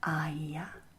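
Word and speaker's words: Aiya: Good, do you see how these two vowel sounds, the R and the E, elide together to turn into what we call a diphthong? Yes, that's another important characterization of Quenya pronunciation.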